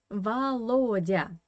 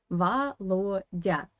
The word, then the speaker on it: Володя: Where you see the red color, there is the stress in this Russian word. And according to Russian phonetic system, you should pronounce the first O in as an A. Volodya. Why? Because it is in unstressed position, without stress. That's why this O in unstressed position you pronounce as A.